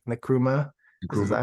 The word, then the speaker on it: Nkrumah: Not only is the president, and please correct me if I say his name wrong, Nkrumah. Is Nkrumah? that how you, Nkrumah? Yeah, Nkrumah, more progressive because he's for the people.